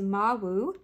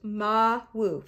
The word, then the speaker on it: Mawu: It is pronounced Ma-Wu.